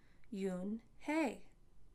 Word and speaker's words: Unhei: turning around it was joey your name is un hee he asked her with his eyes open wide yuen hey quickly looked at mr kim then turned to joey she nodded slowly yes it's pronounced yoon hey and it means grace mr kim added yoon